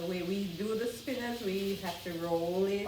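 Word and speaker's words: Spinnaz: name of, but you do, and it is Spinners. How do we spell that? Spinners.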